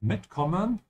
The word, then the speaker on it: mitkommen: Also, small pronunciation tip for you, whenever you have a separable verb like mitkommen, always emphasize the prefix mit.